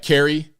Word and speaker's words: Kari: VP um Byron Donald's it's pronounced like Carrie but how do you pronounce Carrie anyway KR e okay now if I was in Virginia I would say Carrie curry curry Lake um Hawaiian